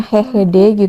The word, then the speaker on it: GGD: Dan vaksin flu ini dilaksanakan di istilahnya itu posyandu, tapi istilah di Belanda itu GGD, cuman bacanya HGD gitu.